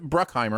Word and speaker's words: Bruckheimer: go with it okay right bruckheimer oh okay yeah there's no end i always put an n in there i don't know we'll